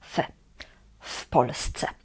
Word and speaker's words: w Polsce: But when we say in Poland, we say w Polsce, w Polsce. This W before the word Polsce means in, and we pronounce it as one word, and here in this context is pronounced as w Polsce.